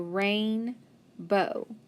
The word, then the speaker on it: rainbow: with that o w the o is long and the w is silent so rain bow rainbow and we can